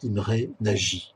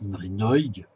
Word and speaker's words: Imre Nagy: Hein, je prononce à la française, en fait c'est Imre Nagy, hein, car le mot Nagy en hongrois veut dire grand, hein, pour votre culture personnelle, donc c'est Nagy, hein, comme ça on le prononce.